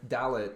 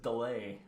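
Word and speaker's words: Dallet: Yeah, that's how they pronounced it. I assumed it was Delay or whatever, or Dale. Oh, okay, yeah. I wrote it down Dlait because that was it's spelled Dalet. Oh, okay. Like ballet or whatever.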